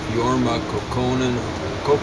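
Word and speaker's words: Jorma Kaukonen: And Jorma Kokkonen, is probably how you're supposed to pronounce it. I think it's a Finnish name. You're supposed to accent the first syllable.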